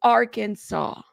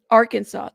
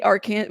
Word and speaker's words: Arkansas: band stuff you know it's Arkansas see I said it right thank you love Arkansas thank you we used to say Aran well anyways um yeah and people would get mad at us so I'm like okay Arkansas my bad I said it right correctly the first time Oklahoma welcome welcome you